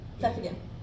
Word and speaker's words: Pfeffingen: Can you pronounce it again? Is it? Which one? Pfeffingen.